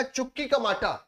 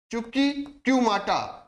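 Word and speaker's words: Chuquicamata: यहां पर एक आएगा चुकी कमाटा कौन सा आएगा चुकी कमाटा स्पेलिंग याद रखिएगा सी एच यू क्यू आई सी एच यू क्यू आई चुकी क्यूमाटा क्यूमाटा चुकी कुमाटा याद रखिएगा ये क्यों प्रसिद्ध है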